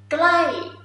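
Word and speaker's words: ใกล้: That's why you just make it like it's short, not really short.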